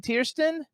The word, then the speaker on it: Tiersten: Tierston, do I pronounce it Tiersten? Correct.